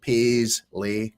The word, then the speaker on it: Paisley: you know but you but they Mis pronunciate it I so that's probably the easiest way to say it's like P Le so go so so